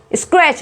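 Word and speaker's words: scratch: फिर स्क्रैच, स्क्रैच, जो, तो तब भी टी सी एच आएगा तो टी वहां पे साइलेंट हो जाएगा।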